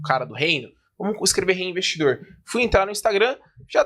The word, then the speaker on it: HeyInvestidor: Você vai pronunciar do mesmo jeito. E foi aí que, basicamente, eu escolhi o reinvestidor.